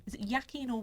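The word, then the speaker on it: Joaquin: final one and I never know how to pronounce his name is it yakin or wacky in Phoenix um I'd say wacky yeah okay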